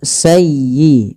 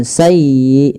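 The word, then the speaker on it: سَيِّئَةً: Kemudian sayyiatan wa a bih walafal sayyi tekan di huruf ya-nya karena dia ya tasdid dan lembutkan ya. Sayyi bukan sayi bukan sayi bukan sayi tapi sayyiata sayyiatan wa ahat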